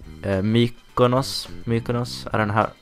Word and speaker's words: Mykonos: And some of those cities were, if I remember right, Mykonos. I don't know how you pronounce that in English. That's how you pronounce it in Swedish.